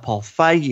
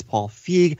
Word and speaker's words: Paul Feig: Not Paul Feige, it's Paul Feig.